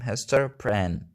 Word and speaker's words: Hester Prynne: This is how we pronounce Hester's full name, Hester Prynne.